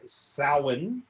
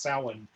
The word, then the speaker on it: Samhain: So Halloween is actually based on the Celtic New Year, which is called Samhain. And yes, that is pronounced Samhain.